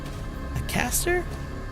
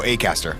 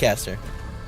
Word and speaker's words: Acaster: James Aaster. Oh, Acaster. Yeah, it's Acaster.